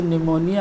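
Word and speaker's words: pneumonia: और 19 नंबर पे ये जो निमोनिया है ये P से स्टार्ट है, यहाँ पर P का उच्चारण नहीं है।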